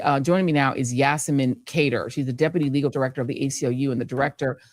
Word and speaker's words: Cader: Cader, you said it right.